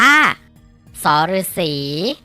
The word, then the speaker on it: ษ ฤๅษี: มอง เห็น อยู่ นี่ อ่าน ออก เสียง ว่า สอ รือ สี น้อง ๆ ฝึก ออก เสียง ตาม ที่ มะตูม